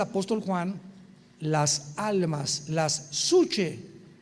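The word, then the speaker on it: psuche: Cuando abrió el 5.º sello, vi bajo el altar, dice el apóstol Juan, las almas, las suche. En el griego alma es suche, para que lo apuntes ahí, P-S-U-C-H-A, y de ahí viene la palabra psique.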